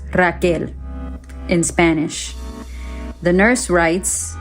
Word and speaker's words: Rachel: c h e l although it was always pronounced Rael or Raquel so Flash Forward I'm